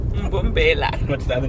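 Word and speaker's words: Mbombela: Mumbela. Mbumbela.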